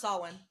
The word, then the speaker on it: Samhain: Samahayan? Samhain. Samhain? It's pronounced Samhain.